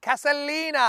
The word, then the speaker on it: Casalina: the tossing match 24 is at casalina and that's how you say it Corey casalina hello